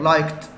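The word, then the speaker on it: liked: مثال كده يا مستر، او لايك منتهي بايه يحب بقى لايكت، طبعا خلي بالكم الدي بنطقها تاء لايكت.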